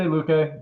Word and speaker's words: Luque: You can get a little bit of more value on prediction strike with Vicente Luque. I'm probably saying that wrong because my pronunciation is awful.